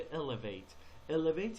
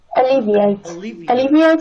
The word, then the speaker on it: alleviate: فقط elevate، ببینید این کلمه alleviate هست. اونی که شما تلفظ فرمودید میشه elevate یعنی بالا بردن. اتفاقا شما میخواید alleviate، تلفظش رو دقت کنید لطفاً. alleviate stress. آفرین. alleviate. اون یکی میشه elevate.